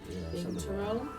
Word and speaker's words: binturong: Go on, how do you pronounce that word? Binturong? Binturong.